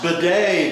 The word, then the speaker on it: bidet: It's pronounced bidet, Dino.